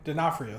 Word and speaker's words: D'Onofrio: Isn't Vincent D'Onofrio, how do you pronounce his D'Onofrio? name? D'Onofrio, thank you.